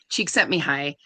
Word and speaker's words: Csikszentmihalyi: And I've read Mihai Csikszentmihalyi, is how you pronounce his name, I'm pretty sure.